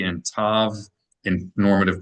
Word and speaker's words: tav: When there's no dot to the tav, instead of pronouncing it as a th like in the word think, think, they pronounce it like an s with no distinction whatsoever between with no dot sav and the letter sonic and the letter seem.